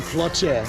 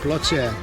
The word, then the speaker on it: Ploče: Right now we're in Ploče. Is that how you say it? Yeah. Ploče.